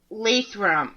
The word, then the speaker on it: Lathrop: all good how do you all right it's Lathrop lathrum okay see I'm from Mass so it would be pronounce different yeah I get that I get